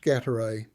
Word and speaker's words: Gatay: The village is pronounced Gatay. Stress first syllable.